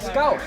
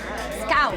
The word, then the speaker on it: skál: Scout. Scout. Scout. Scout. Scout. Scout. Think of like you're saying scowl, like when you're not happy or frowning. Yeah. You say it happily. Scout. Yeah, scout.